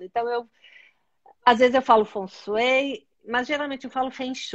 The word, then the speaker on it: Feng Shui: Feng significa vento. E aí a pronúncia, quando a gente vai falar bem certinho, como os chineses, a gente fala Feng, como se fosse o som do vento. E Shui significa água. Então, imagina o som de uma cascata. Então, Feng Shui seria uma das pronúncias mais corretas.